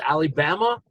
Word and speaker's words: Ali Bama: to have with us Ali Bama, Alabama. Ali, it's hard to pronounce, so I want to call you Ali, but I got that. Is Say it Ali? it. Say Ali, then say Bama.